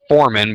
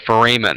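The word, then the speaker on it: foramen: those are what are called nutrient fmen not Forin but fmen a lot of people mispronounce that term okay understandably you're just learning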